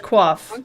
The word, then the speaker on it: quiff: yes Cliff is nice I like quaff sorry that's how it's pronounced but it's but it's spelled q-u-i-f-f correct yeah yeah okay I mean but it's pronounced quaff ER okay no I